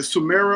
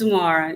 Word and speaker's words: Sumara: Is it Sumera or Sumara? It's Sumara. You said it right the first time. Mars like the planet.